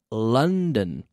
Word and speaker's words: London: Month. Funny. Money. Month. London. The same sound.